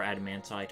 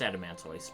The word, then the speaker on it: Adamantoise: So if that explanation out of the way, this should be our first battle against the Adamantoise, or Adamantite, however you pronounce it. Yeah, it's Adamantoise, pretty sure.